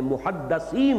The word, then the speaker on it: محدث: رسول کی امت میں محدثین ہوتے ہیں۔ اس لفظ کو اچھی طرح صحیح تلفظ کے ساتھ سمجھ لیجئے، محدث دال کے زیر کے ساتھ، وہ تو وہ علماء